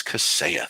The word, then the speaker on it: Kaseya: And so uh, I called the 800 number this morning to see how they say it, and And they said Kaseya. they say Kaseya. Oh, good. They say Kaseya, so you've been saying it right.